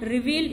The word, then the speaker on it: revealed: Next, The ed in muttered and revealed is pronounced d, only d. Muttered, revealed, only d is pronounced.